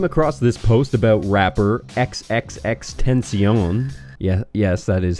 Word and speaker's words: XXXTentacion: I came across this post about rapper XXXTentacion. Yes, that is how you pronounce it.